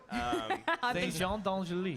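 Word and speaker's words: Saint-Jean-d'Angély: Saint-Jean-d'Angely. Saint-Jean-d'Angely. That's a don. You gotta get the don.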